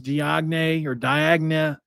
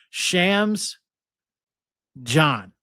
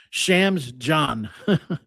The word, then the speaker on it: Chams Diagne: Obviously you know, Damon Allen, Rae'Shawn Reynolds, and Chams Diagne or Diagna. I wish I'm going to try figure out how he's that's pronounced by the next time I say it.